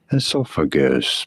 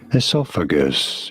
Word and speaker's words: esophagus: Esophagus, pretty straightforward once you know. Oh. Esophagus, you do want to stress on the second syllable, on the saw syllable.